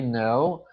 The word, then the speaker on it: know: Olha só que o K, ele é mudo. Quando está o K e o N juntos, o som do K, ele é mudo. Fica no. Então, we know how to speak Italian.